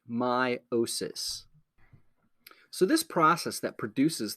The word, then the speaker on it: meiosis: cells is called meiosis it's spelled weird but we say it meiosis so this process that